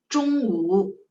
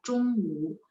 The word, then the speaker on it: 中午: Kalau lidah saya nggak angkat, bacanya gini, cung. Beda ya. Cung itu lidah saya nggak angkat. Tapi kalau ini cung ada ya. Zhongwu siang hari ya. Zhongwu.